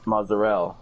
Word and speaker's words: mozzarella: yeah, but There's no T in how you're actually supposed to pronounce it. I've thought about this long and hard. I bet you did. And It's actually pronounced mozzarella, but I butchered that too.